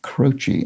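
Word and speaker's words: Croce: out that jim c-r-o-c-e the musician is pronounced crotchy i thought that was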